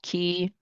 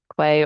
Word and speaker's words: Quay: There's also Key, Quay, or K, depending on your pronunciation preference.